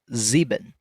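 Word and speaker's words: sieben: at the start z seven will be zeben again that zish sound with a ben zeben Eight and nine have harder translations as well.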